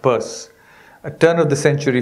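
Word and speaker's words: Peirce: a man called charles purse spelt pierce pronounced purse a turn of the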